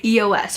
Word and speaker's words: eos: here and there, but I think it is EOS is how you pronounce them, and I'll have all these linked down below as well.